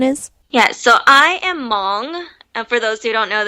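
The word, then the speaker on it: Hmong: otherwise yes I am Mong and awesome thanks for sharing that and you know what I never knew the H in Mong in Mong was silent so thank you for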